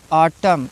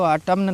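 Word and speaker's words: autumn: आटम, इसको आटम्न नहीं पढ़ा जाएगा।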